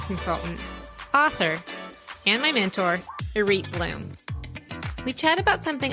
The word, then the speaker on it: Irith: are listening sure so my name is irate Bloom which is not spelled like it sounds but we'll leave that